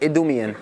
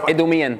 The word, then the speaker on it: Idumean: Well, I say it Idumean. Idumean.